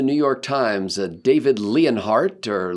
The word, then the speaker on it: Leonhardt: York Times a David leonhardt or Leon Hart I'm not sure how you pronounce that it's not Lionheart not it's not lion but it's a Leo it's like the French word he has this column